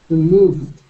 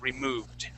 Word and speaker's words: removed: next word is removed removed okay and this will have a uh Ed uh ending that sounds like a d as well removed okay okay excellent okay